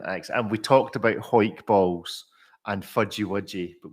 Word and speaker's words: Hawick: If it was to give you that word with no, how would you pronounce that? Hawick, brother of Hawick. John Wick. Yes, well, it's Hoik, which is famous for rugby, which is a sport for men.